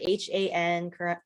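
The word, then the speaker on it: 한: So Han, I spell it H-A-N, Koreans pronounce it Han.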